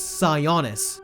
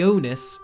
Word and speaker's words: Sionis: and by the way it's sionis not sorry honest romance I honest I